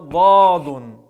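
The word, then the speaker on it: ض: Произносится звук этой буквы, когда мы правую или левую сторону языка прислоняем к коренным зубам. Этот звук является смычным, то есть мы прислоняем язык и потом его отрываем, и образуется этот звук.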